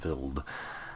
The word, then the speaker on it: Wild: That's how you pronounce it, Wild.